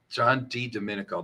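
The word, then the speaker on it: John Di Domenico: the person who did the Donald Trump impersonation John D Dominico John D Dominico that's right that's how your pronounce it if you go back over that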